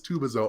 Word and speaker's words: Tubazo: And that's when I was like, actually, it's Tubazo.